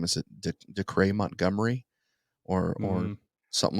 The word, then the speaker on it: Dacre: And so I've got, I don't know how to pronounce his first name. Is it Dacre Montgomery or something like that? It's Dacre Montgomery.